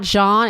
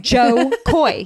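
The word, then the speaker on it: Jo Koy: his name sometimes just I think it's John and it's not John it's Joe Joe Joe Koy yeah but I think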